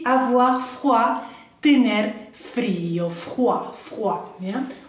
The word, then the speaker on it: froid: Y avoir froid, tener frío, froid, ¿bien? OI es como el WA, wa, y la D no la pronunciamos, entonces avoir froid.